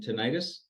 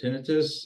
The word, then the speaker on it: tinnitus: So tonight we will be focusing on tinnitus or tinnitus. It's pronounced different ways, ringing in the ear, as well as the effect that PBM can have on brain issues.